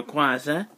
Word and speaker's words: Rayquaza: So we have Futon Bound and Mega Rayquaza, or Rayquaza, if you prefer to pronounce it that way.